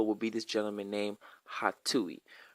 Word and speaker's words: Hatuey: Coincidentally, folklore actually says that his name, Hatui, which is spelled Hatuey, is actually a way of blowing someone off, right?